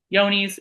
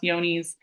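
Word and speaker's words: Johne's: It's yonies. It's pronounced yonies.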